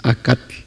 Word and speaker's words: acatl: No es acatl. Cualquiera de que no sabríamos el idioma diríamos acatl.